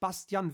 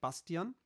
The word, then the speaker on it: Bastian: two yes we have bastian winkelhaus in the house too that's how we german would pronounce his name not bastion but bastian winklehouse true he could